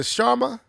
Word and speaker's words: Sharma: So, Asha, is it Sharma?